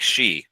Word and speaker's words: Shi: key one yeah so it sounds like she right like the word she uh so I've been